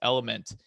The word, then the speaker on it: LMNT: Even earlier when I brought up the hydration, getting the Celtic sea salt or, LMNT, or it's pronounced, it's Element.